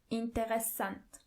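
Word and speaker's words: interessant: means interesting is interent it's a bit similar but don't forget to add the extra s in the middle interesant bad means SCH SCH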